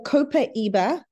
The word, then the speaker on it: copaiba: essential oils when it comes to babies so copaiba that's how you pronounce it top left is brilliant for teething